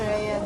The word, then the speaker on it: Øye: Øye for øye, tann for tann. Eye for eye. Tann for tann. Tann. Yeah, teeth. But pronunciation, oi for oi. Øye. Yes. Øye. Øye. That's hard. Øye.